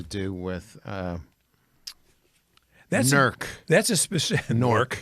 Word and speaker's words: Newark: with uh that's a norc it rhymes with cork pork uh Philip Roth is